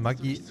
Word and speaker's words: Maggi: Ich wurde gesagt, dass man Maggi eigentlich Italienisch ausspricht, weil der Erfinder Italiener war.